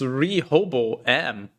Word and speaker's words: Rehoboam: Hobo, there's hobo in there. Okay, that's good. True. I get that. It's Rehoboam.